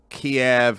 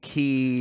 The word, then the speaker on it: Kyiv: This They did it with Kiev and Kyiv.